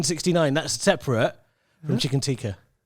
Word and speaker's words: tikka: Because tikka, well, actually, the Asian way of pronouncing it is chicken tikka.